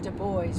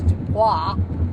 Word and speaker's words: Du Bois: In Du Bois, which I pronounce Dubois. It's not Dubois. Falsely. It's I want to hang with the boys.